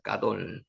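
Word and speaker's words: גדול: 까돌 원래 발음은 까돌이고요. 요게 단 요게까 기 쌍기역 발음이 나거든요. 적을 때는 가돌이라고 적어도 큰 문제가 없습니다. 가돌이라고 하더라도 까돌로 발음하시는게 맞습니다.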